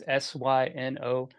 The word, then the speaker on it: Synowiec: And spelled like you think it is. Synowiec is 8 letters. It's Synowiec.